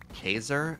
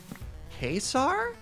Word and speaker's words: Caesar: fallout new vegas and they pronounce caesar like caser and oh kaiser it's not kaiser it's not it's like very deliberately not kaiser but it's because that's a different word but it's not caesar either yeah gold the diamonds